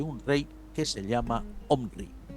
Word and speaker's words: Omri: rey que se llama Omnri. Omri o como dicen otras versiones de la Biblia, Omri con acento en la I, ¿no?